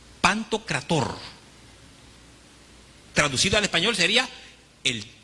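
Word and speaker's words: Παντοκράτωρ: una palabra que esta palabra es se se pronuncia pantocrator pantocrator traducido al español sería el todopoderoso ahora esta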